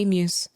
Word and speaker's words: emu: The Emus. Just pausing one second here on the pronunciation of the word emu. It is as I'm saying it emu, If you're Australian, you're probably like Lucy.